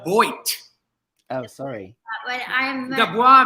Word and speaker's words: Boit: I assumed you were French because of your very French-sounding name, Dubois. Yep. It's pronounced Boit.